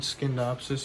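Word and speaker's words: Scindapsus: believe on uh my last video I said skinnedopsis in a very uh questioning tone and I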